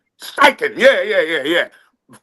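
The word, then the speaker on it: Steichen: STEN. STIKEN.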